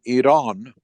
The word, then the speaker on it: Iran: whatever was going on on the streets in Iran which is the right way to say it